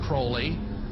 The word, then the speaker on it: Crowley: be have his name pronounced crowley to rhyme with holy and the satanist today